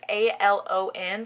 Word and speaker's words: Alon: I'm not sure if that's how it's pronounced, but it's A-L-O-N, so I'm going to say Alon.